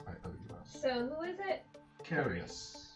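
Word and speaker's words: Carrious: Carius. He will carry us into the future.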